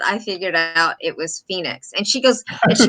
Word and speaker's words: Phoenix: And I thought, and I was looking at all the operators and everybody's going, Pahonix, and we're trying to figure this out.